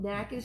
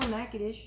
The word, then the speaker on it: Natchitoches: how to pronounce all of them. All of them. Natchitoches. I can even spell Natchitoches.